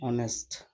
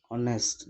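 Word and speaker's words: honest: एन ऑनेस्ट, यहाँ ऑनेस्ट, जबकि H letter है उसका प्रोनाउंसिएशन नहीं होता है, वो साइलेंट है, इसलिए उसके पहले भी क्या हम लगाए हैं, एन ऑनेस्ट मैन।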